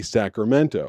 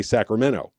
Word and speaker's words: Sacramento: little colloquial things like people in Sacramento don't say Sacramento which I did not know they say Sacramento they don't put the T in it at all but it it